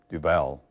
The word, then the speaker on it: Duval: Duval. I instead never of pronounced Duval.